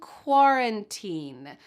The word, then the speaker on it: quarantine: Quarantine. Ooh, do you hear the sound at the beginning of this word? It sounds like a W.